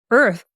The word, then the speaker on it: Irth: Well, we love the name Earth is like the word birth, but we dropped the B for bias, so it's spelled IRTH.